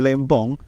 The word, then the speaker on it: Lempong: Oke, sebelum kita mengulik lebih dalam ya, kita pengen tahu nih sebenarnya nama aslinya dari Adi Lempong. Bener nggak sih bacanya Adi Lempong, Lempong atau Lempong?